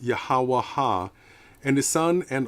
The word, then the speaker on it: YHWH: author of The Bible yhwh pronounced yahwah AA and his son